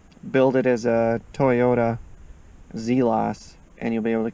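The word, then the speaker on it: Zelas: based on our friend, once again, Google, Wikipedia, Zelos. That's how you pronounce it.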